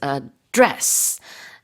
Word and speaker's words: address: As you said, the stress of this word as a verb is on the second syllable. So it's address and the is how how do you say it?